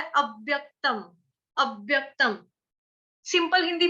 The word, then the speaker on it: अव्यक्तम्: यह 'अव', 'अब', 'अव', 'एब', 'ए', 'व', 'अव', 'अव्यक्तम', ' अव्यक्तम' है। और दूसरी बात, हमें 'व' का उच्चारण किसके साथ करना चाहिए?